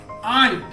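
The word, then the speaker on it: aunt: अब देखते हैं और एग्जांपल है यहाँ पे आंट, आंट ए से शुरुआत हुआ है और इसका उच्चारण हो रहा है आ, आंट, जो आ हमारा हिंदी वर्णमाला का स्वर है, इसलिए इसके पहले एन का प्रयोग करेंगे।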